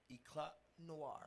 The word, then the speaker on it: Eclat Noir: Don't pronounce the T. Eclat Eclat Noir.